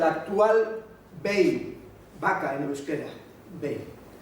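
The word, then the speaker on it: behi: Bei, vaca en euskera, Bei. La G se cae y queda la aspiración, sobre todo en la parte norte del País Vasco. Entonces se escribe con H, Bei.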